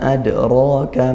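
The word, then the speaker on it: أدراك: Adraka, nah ini ada yaitu dal sukun qalqalah sughra dikuatkan, dalnya adraka ya, dipantulkan ya.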